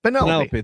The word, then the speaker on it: Penelope: Penelope.